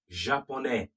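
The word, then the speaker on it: japonais: an e to it japone the s is silent for the male josue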